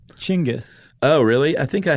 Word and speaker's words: Genghis: Do you pronounce it Dingus or Genghis or Chingus? Are you being serious? I know it's not dingus, but I've also seen it spelled in a way that would suggest it's Genghis, you dingus. You pronounce it Chingus.